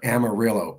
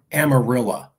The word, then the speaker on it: Amarillo: The Mexican side is Tejano near Amarillo. I'm sorry, Amarilla. Amarilla. Yes. A lot of cousins there. Yeah. Amarillo. Spelled Amarillo, pronounced Amarilla.